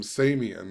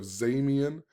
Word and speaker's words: Zamian: He pronounces it as the letter S. So he calls him Samian instead of Zamian.